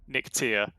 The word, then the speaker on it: Nictia: It is supposed to be Nictia. Nictia, okay. Nictia, yeah. Nictia, bit of an emphasis on the E there.